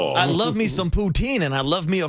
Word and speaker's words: poutine: It's poutine.